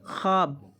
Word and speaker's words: خواب: معدولہ جو ہے وہ خواب میں ہے۔ واو معدولہ اس واو کو بولتے ہیں جو لکھا تو جائے لیکن تلفظ اس واو کا نہ کیا جائے بلکہ الف کا تلفظ کیا جائے۔ سوال نمبر 30 ہو